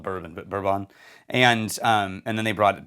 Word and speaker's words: Bourbon: It's spelled Bourbon, but Bourbon.